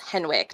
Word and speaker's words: Henwick: It's Henwick, not Hendricks.